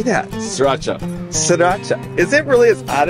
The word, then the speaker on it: Sriracha: Sriracha.